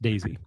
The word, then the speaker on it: DAISEE: Daisy, spelled DAISEE. So DAIC, Daisy, but it's pronounced Daisy.